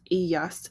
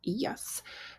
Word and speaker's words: ellas: They, all females, ellas. And it follows the same thing with that y sound for the double L.